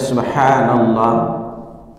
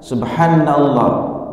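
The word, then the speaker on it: سبحان الله: Dari sisi lafaz, pertama kita membaca subhanallah, haknya diperhatikan. Haknya itu kita baca 2 harokat, subhanallah.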